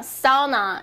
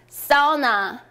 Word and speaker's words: sauna: 주셨는데요 한번 저렇게 알아볼게요 au 는 아 어 나 보다 어로 발음을 해 주세요 제게 딱 정해 드렸습니다 그래서 au 는 보통 우리 어떻게 발음 하자 아오 이렇게 발음을 하실수가 있죠 하지만 여기서 아 어 나 제가 정해 드립니다 어나 어루 발음의 해주시면 조금 더 부드럽게 그리고 조금 더 잘 드럽게 표현을 할 수 있습니다 자기 u 완치 주어